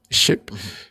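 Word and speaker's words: SCHIP: Coastal Highway Improvement Project, which is, I guess, SKIP or SHIP, whatever it's pronounced. SHIP. I've heard them say it as SKIP, but President of the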